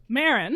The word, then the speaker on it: Marin: That's not how you pronounce this. So, Marin.